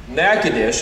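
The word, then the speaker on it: Nacogdoches: pastors yesterday and in a town that is not pronounced how it is spelled i learned nakadish is where we met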